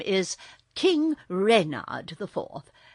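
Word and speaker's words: Renard: Therefore, my official name is King Rayard IVth. Readard with the accent on the re.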